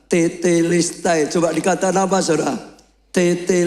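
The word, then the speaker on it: τετέλεσται: Dalam bahasa Yani Yunani ditulis tetelistai, Saudara kalau diucapkan tetistai.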